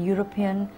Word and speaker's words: European: a European city EU the vowels EU in European sound like the word you because it sounds like